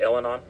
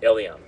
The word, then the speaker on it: Elyan: Is it Elanon or Elon? Elon, I'm sorry.